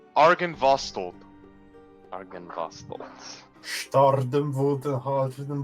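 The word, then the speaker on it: Argynvostholt: It is pronounced Argenvostold.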